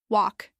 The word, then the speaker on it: walk: One last pair for today, walk and work. This one is extra tricky because it's not just about vowels. Walk has a silent L and the vowel sound is like the one in law.